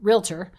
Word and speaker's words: realtor: airs ultimately people who enlist a realtor a realtor to syllables realtor for uh to sell their home